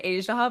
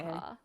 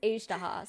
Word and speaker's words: Ajdaha: Because I say Ajaha, but I think I'm wrong. No, I think it's like both are right. I think in like because like my game is in Korean, so usually I just Mhm. follow whatever the Korean pronunciation is. I think they say like Okay. Ajdaha. Okay, okay. So But kind of close, yeah, sort of. but in I think in English it is Ajdaha, so Oh, yeah.